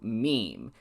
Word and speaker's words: meme: It should be pronounced to rhyme with cream.